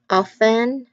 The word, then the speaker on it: often: Then you've got silent B too in words like dead, doubt, and silent T in listen and often. Though some people do pronounce the T in often, like often, but it's also not pronounced at some with other people.